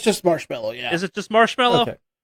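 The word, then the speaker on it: Marshmello: Alex, can you pronounce this music person's names better than I can? Marshmallow? It's just Marshmallow, yeah.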